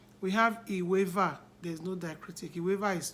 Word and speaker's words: Iweva: We have Iweva. There's no diacritic. Iweva is 12. And that 12 is spelled, Iweva is spelled as I-W-E.